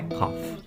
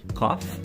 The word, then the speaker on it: coffee: a palavra coffee então a pronúncia não é cof coffee é o verbo tosse